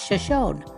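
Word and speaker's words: Shoshone: The locals pronounced the town's name as Shashon with a silent e at the end, which is the difference from the pronunciation of the Shashonyi tribe.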